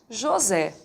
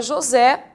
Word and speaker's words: José: caso aqui e agora José José tem a sílaba tônica na última sílaba realmente da palavra Então nesse caso